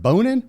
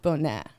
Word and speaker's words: Bonin: you're like is it bonin but you get a lot of jokes like well it's like boner jokes but it's actually pronounced bonet it's french yeah but it's just